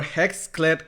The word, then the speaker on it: HexClad: So now you work for Hexclad Cookware.